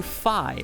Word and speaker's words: Fi: Also, the voice inside of the Master Sword, I believe that is supposed to be a reference to Fi, or Fi, depending on how you say it, from Skyward Sword.